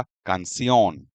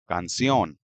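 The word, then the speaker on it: canción: According to rule जो इसका stress है वो कान पर होना चाहिए पेनल्टीमेट्स लेवल पर। लेकिन नहीं अगर आप इसको सुनेंगे तो इसका प्रोनन्सिएशन आपको सुनाई देगा कंसियोन यानी के स्ट्रेस से लास्ट वाले सिलेबल पर है। तो ये स्ट्रेस दिखाने के लिए हमको यहां पर एक एग्जेंट मार्क देना पड़ेगा। तो इसका प्रॉपर प्रोनाउंसिएशन या करेक्ट प्रोनाउंसिएशन है कंसियोन। स्ट्रेस यहां पर है।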